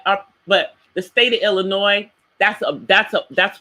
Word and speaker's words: Illinois: example the state of Illinois even though there is an S on the end of that word the S is silent but some people say Illinois's that's not correct now